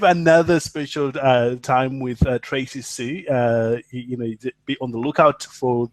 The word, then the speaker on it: Sioux: No, it's just Sue, like S-U-E. Oh, it's just spelled funky. Okay. Yeah, it sounds like Sue, S-U-E. It's spelled funky. French. Awesome. It's spelled French.